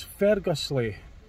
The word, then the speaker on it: Ferguslie: called get to pronounce I know great be pronouncing names H it's Fergus Le Fergus Le Park in Paisley in Scotland just